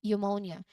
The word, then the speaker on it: pneumonia: Um And finally, we have here for P before N, we have pneumonia. Here, the P at the beginning is silent before the N, so it's pronounced as pneumonia.